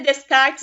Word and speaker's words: Descartes: Se escreve Descartes, mas se fala René Descartes.